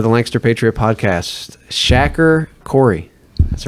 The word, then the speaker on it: Khoury: I used to pronounce your name wrong. I pronounced it Curry. And for the longest time, I pronounced your name Curry. Yeah, it's not Indian food.